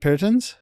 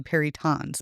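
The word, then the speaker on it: perytons: And how do you pronounce paritons? It's actually perons but perons perons anyway.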